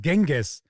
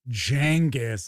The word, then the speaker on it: Genghis: It's like, and he says something like, no, it's pronounced Genghis. And the guy's like, no, if you were around back then, it was Genghis. And he's like, oh, for God's sake, just pronounce it the way everybody else pronounces it.